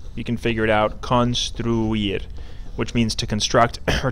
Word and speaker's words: construir: Then we have a longer one, you can figure it out, construir, which means to construct or to build. This one has construir, three syllables.